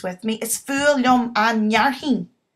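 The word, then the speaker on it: fhearthainn: Is fualam an nearrthín. Farthín an nearrthín. F-H is silent.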